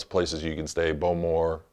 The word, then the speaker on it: Bowmore: places you can stay Bowmore or they pronounce it but more you could stay there